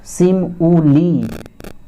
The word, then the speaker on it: simile: First of all, what's a simile is the first definition, and you may say simile, pronounced sim-u-li, is a literary term.